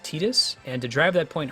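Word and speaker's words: Tidus: spelled that name um as though it rhymes with the detergent tide yeah uh apparently apparently it's actually supposed to be pronounced tetus and to drive that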